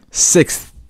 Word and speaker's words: sixth: pronounced like sixth yeah sixth so the th sound in this word is actually very light yeah I mean you